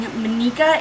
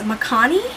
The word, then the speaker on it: Makani: a different name so instead of how is how i was saying monika it's makani or something like that i don't know how